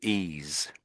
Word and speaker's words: ease: So ease. Ease. So the e the s has got a sound in it.